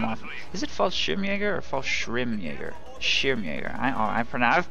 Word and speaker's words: Fallschirmjäger: Also, for those of you complaining about calling Fallschirmjäger in from off... Is it Fallschirmjäger or Fallschirmjäger? Schirmjäger. I've pronounced that wrong for my entire life, apparently.